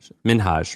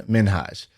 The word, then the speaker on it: Minhaj: With an I think I think his name is actually pronounced Hassan Minhage. And everybody calls him Hassan Minaj because it sounds awesome and it's like Nicki Minaj.